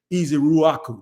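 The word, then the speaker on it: Ezeiruaku: I think it's Easy Ruaku. That's how you say it.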